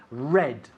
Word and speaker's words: read: the paper yesterday yes i read not read espanol red mismo color red rocco red yes i read